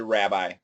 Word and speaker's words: rabbi: So that may be the proper pronunciation, but the standard pronunciation will be a short a. So guys, not wrong, but I most Americans are going to say rabbi.